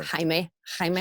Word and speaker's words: Jaime: Instagram, Jaime Wyatt is spelled like weird though. It's like Jaime Wyatt, like Wyatt Earp, like Sure. Jaime.